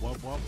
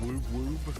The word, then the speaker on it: wub wub: Pronounced wub wub, not woob woob.